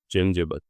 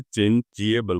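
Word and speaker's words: changeable: ए टी E next चेंजबल हम बोलते क्या बोलते हैं चेंजबल कभी नहीं बोलते चेंज जिएबल बोलते हैं।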